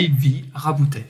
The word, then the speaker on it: Sylvie Raboutet: Sylvie Raboutet. J'ai bien prononcé. Parfait. Parfait.